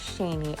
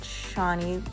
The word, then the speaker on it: Shani: Oh, sorry, it's pronounced Shani. I've been pronouncing it Shani my entire read, but I'm listening to the audiobook of it now just for funsies, and they say it's Shani, but I like Shani better.